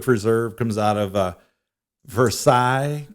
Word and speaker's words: Versailles: comes out of uh versailles kentucky at least that's how i think it's pronounced maybe thinking french that's what they call it for sales it may be yeah